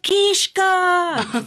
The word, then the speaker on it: Kiszka: women in the crowd screamed its Papa kishka so she knew the Polish pronunciation yeah and that was